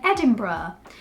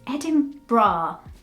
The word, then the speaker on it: Edinburgh: and then Edinburgh Edinburgh I just want to say Edinburgh it's so much easier to read it as Edinburgh but it's not it's heading bra but there's no bra there's a burg at the end and the last one